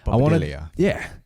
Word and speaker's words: Bobadilla: I didn't want to keep using my name like Bobadilla or Bobadilla if you want to pronounce it properly. Bobadilla.